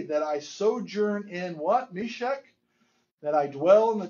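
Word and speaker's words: Meshech: Because it is sh sound.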